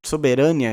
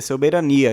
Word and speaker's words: soberania: Soberânia, estranho, não é? porque é soberania.